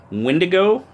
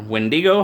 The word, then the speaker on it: Windigo: of taking a look at the Damned designs Windigo or wendi-go however you choose to pronounce it provided it was provided by dam